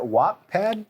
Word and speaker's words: Wattpad: do you say it Wattpad Wattpad so it's w-a-t-t-p-a-d Wattpad Wattpad like a gigawatt exactly exactly my guy